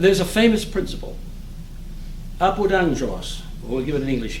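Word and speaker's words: ἄγγελος: And GG are pronounced like ng in English, angelos, messenger.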